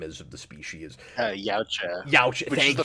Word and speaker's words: Yautja: Yautja, Youch, which is thank the you.